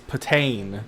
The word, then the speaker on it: Patane: It's Patane, is how it's actually pronounced.